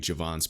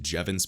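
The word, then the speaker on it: Jevons: i don't know why i keep saying javon's paradox it is pronounced jevon's paradox my apologies i'll still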